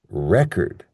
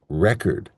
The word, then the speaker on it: record: Whereas in the noun form, we stress the first syllable. So we say record, record.